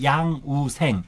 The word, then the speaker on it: 양우생: 2부는 양우생, 란우생이라고 이제 네. 우리 발음으로 양우생이라는 예.